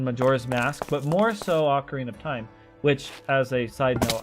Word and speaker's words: Ocarina of Time: used to pronounce as OC Arena until about a year ago when I finally noticed there was not an r in the title of that game um I don't know